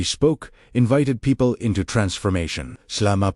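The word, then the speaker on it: ܫܠܡܐ: As you exhale, gently speak SHLAMA, pronounced SHLAMA, wholeness, completeness, harmony with God.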